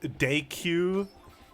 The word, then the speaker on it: Deku: potions and deku nuts deku i like pronouncing it both ways because it pisses all the fans off actually it's decu i forget can you